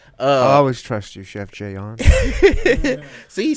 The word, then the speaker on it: Jayuan: see he says it I told you a lot of people don't pronounce my name right right I've always said that right yeah a lot of they they think it's Jaan I even got Chef Juan before actually listen just